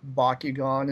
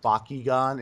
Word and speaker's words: Bakugan: kind of trying to borrow technology from like Bakugon and such which is kind of neat I like that Bakugan isn't it Bakugan Bakugan Bakugan I speak Japanese